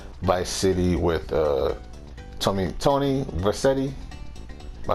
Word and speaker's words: Vercetti: like previous installment, like Vice City with Tony Vercetti. Am I saying it right? Tony Vercetti.